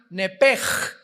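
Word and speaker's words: נפש: En Génesis 35 dice el versículo 18, "Y aconteció que al salírsele el nepesh, apúntalo ahí, el alma en el hebreo es nepesh, se pronuncia nepej.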